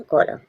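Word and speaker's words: column: ऐसा होता है कॉलम। एक कॉलम दो कॉलम। कॉलम मींस स्तंभ। यहां पर कॉलम। कॉलम मींस स्तंभ। एम के बाद एन है। साइलेंट है।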